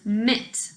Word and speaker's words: mit: Now, the second word, root, is mit. Please say mit. Good. Notice that it's spelled M-I-T instead of M-I-T-T.